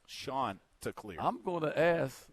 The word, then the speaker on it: Chanticleer: and it's it's spelled c-h a-n-t-i-c-l-e-e-r but is pronounced sean to clear i'm gonna ask uh let's look at the